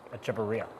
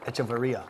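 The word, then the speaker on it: Echavarria: He has said during the 2023 Puerto Rico Open how to pronounce his last name is Echeverria. Echeverria.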